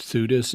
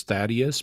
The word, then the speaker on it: Theudas: Yeah, my only comments are, well, he mispronounced Theudas as Thaddeus, but who cares?